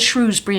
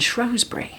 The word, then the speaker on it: Shrewsbury: But that Yeah, but that's like the Shrewsbury and Shrosbury.